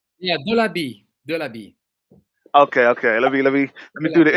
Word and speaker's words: Delabie: Yeah, Delabie, Okay. Let me do the Delabie. intro too. And today it's a very awesome show. We got France here. We got Mr. Delabie here.